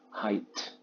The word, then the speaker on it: height: Ya, ketinggiannya menjadi height. Bacanya jangan ada g-nya ya. Height, H-A-I-T, baca height gitu aja.